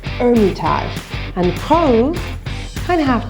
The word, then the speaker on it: Hermitage: Rose Hermitage. A couple of interesting ones about this. Hermitage has a silent H, so it's Hermitage. And Rose, kind of have to growl your R on that one. Rose Hermitage.